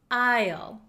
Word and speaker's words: isle: one is tricky H there is an s in this word however we do not pronounce this s we do not pronounce it we pronounce this word Isle Isle Isle so it